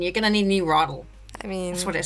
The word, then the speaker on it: WROTL: it now R yeah the W is silent in case you uh it's like wrong but rle yeah it's rle w I'm not sure